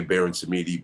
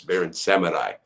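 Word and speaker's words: Baron Samedi: in the in the some people say baron samidi but it's barren seminai and that's the guy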